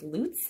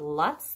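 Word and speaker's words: Luts: And yes, the company, the correct pronunciation of the name is Lutz, not Lutz, though I know a lot of people in the West call them Lutz dolls.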